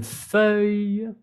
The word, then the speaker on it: feuille: Une feuille, como y al final, pero la quítale.